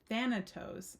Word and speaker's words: Thanatos: but the true archetypal Resonance of than Thanatos sorry I've been pronouncing that wrong of Thanatos cannot be easily a